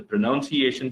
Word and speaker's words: pronunciation: and double n and the pronunciation spelling is you don't have u you miss out that i mean you don't have o you miss out that oh it's p r o n u n right even though we have